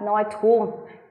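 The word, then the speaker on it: Neutrum: sống chung sống chung trong Tiếng Đức thì người ta đọc là noitheum ký hiệu bằng chữ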